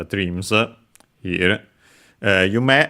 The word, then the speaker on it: 夢: uh by dream uh or dreams in uh in our case it's dreams here uh you may as a reminder is accented on the last syllable.